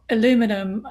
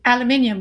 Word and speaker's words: aluminium: enough jet fuel or aluminum aluminium sorry I'm not going to say the American uh pronunciation aluminium or fertilizer is that